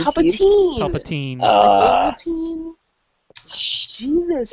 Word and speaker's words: Palpatine: It's Palpatine. Palpatine. Palpatine. Jesus. If it was teen, it'd be E-I-N, like Goldstein.